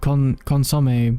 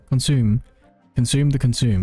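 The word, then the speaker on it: consommé: And since it's lantern rice season, you better try out the triple-layered consomme. Is that how you pronounce it? Consomme? Consume, yes.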